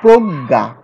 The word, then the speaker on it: প্রজ্ঞা: এখানে দেখো দুইটা গ আসছে, কিন্তু এই বর্ণটি কি, বর্ণ কি আসলে দুইটা গ দিয়ে গ মিলে হয়? এখানে একটা নিয় আছে, একটা বর্গীয় জ আছে, দুইটা মিলে এই বর্ণ, এই যুক্ত বর্ণটি হয়েছে, কিন্তু আমরা উচ্চারণ করছি কি দুইটা গ উচ্চারণ করছি।